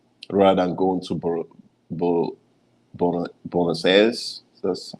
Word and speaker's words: Buenos Aires: about Salta, Argentina, rather than going to Bo, Buenos Aires. That's how it's pronounced, the Argentinian capital, and go to Salta.